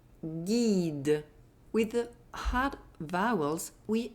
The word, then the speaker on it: guide: The letter U is not pronounced. It's simply there to maintain the hard G. So each time you see the letter G and U together plus a soft vowel, I or I, G and U are going to be pronounced G, as in une bague, un guide.